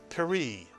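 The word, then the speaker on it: פרי: It begins with a pronounced shva, and then the resh has a hirik. It is a 1 vowel and therefore a 1 syllable word. It is pronounced peri, Mitsuyan. Not peri, but peri, Mitsuyan.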